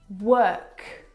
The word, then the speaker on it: work: world and work now you're probably mispronouncing these words because you are looking at the O R and you're trying to pronounce the vowel sound or like in door but this is incorrect the vowel sound is actually as in her work world word this is your